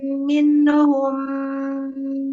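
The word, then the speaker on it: مِنْهُمْ: Minhum. Nunnya jangan mina. Ada ne-nya. Nggak boleh. Minhum.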